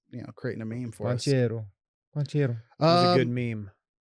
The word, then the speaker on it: Banchero: Banchero. What did I say? It's not. Is he Italian? I say Yes. Pancho Bailero.